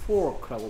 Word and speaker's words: fork: 그래서 외국에 식당 가서 포크 주세요, 포크. 이러면 돼지고기 갖다 줄 수도 있어. 맞습니까? 정확하게 Fork라고 발음해야 돼.